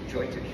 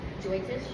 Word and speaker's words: Jyotish: And one of the things that they do, Jyotish or Vedic astrology, for couples, the parents do it for their kids. Kids haven't even met. What is it called? Jyotish.